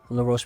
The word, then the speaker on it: La Roche: Lar Ro if you didn't know that. Um, Lar Ro. That's the French way of pronouncing my name in case you didn't know.